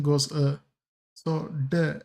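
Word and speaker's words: deux: pronunciation goes uh so duh and this x goes silent. So you just read it as duh.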